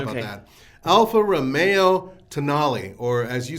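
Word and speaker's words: Tonale: yeah it is t-o-n-a-l-e that's in the italian and so you're you're the problem is that you're not thinking latin well have they met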